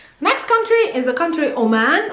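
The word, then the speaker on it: عمان: country is a country oman o man in arabic it's not o it has the letter and the rest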